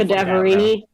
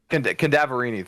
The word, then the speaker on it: Cadaverini: Cadaverini. Cadaverini. Thank you, Crow. And Ren. It's the word cadaver and then Eenie. That's it. Cadaverini.